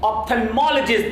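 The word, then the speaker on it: ophthalmologist: Yes, this is pronounced as ऑप्थेल्मोलॉजिस्ट।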